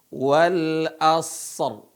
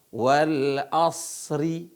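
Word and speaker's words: والعصر: tebal cara bacanya Bagaimana perhatikan supaya tidak salah Wal asr ya Wal asr Bukan dibaca Wal Asri haah itu bukan Wal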